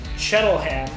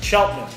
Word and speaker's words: Cheltenham: So when I look at it, I say Cheltenham, but it's Cheltenham, the local pronunciation. So here in Cheltenham.